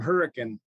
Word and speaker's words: Hurricane: make the joke it's across the bridge from Hurrican um down here in southern Utah proud graduate